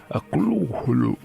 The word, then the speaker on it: Cthulhu: algo parecido a Cthulhu, donde la primera sílaba se pronuncia de forma gutural y muy opaca. La U es como de la palabra inglesa full, y la primera sílaba no suena muy distinto de clul, porque la H representa la opacidad gutural.